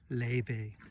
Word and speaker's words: Laufey: daughter about 16 times, how do you pronounce her name again? And she was like, Laufey. So anyway, yeah, Laufey.